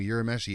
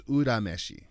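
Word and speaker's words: Urameshi: pronounce his last name yura meshi is incorrect did you know that it is not a y sound the japanese name is udameshi yeah i was about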